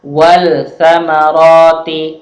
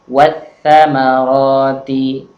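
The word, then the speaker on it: والثمرات: Sama juga ketika bertemu dengan tha, tidak dibaca wal samarati, tapi membacanya adalah wat samarati.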